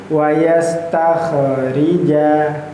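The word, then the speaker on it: واستخرجا: Kita lanjut wasastakhrija ya. Nah, kemudian di sini yang menarikja khnya su sukun ya sukun itu ya kayak setengah lingkaran itu. Tetapi jangan sampai kita membacanya terpantul. Wastakhrija ya.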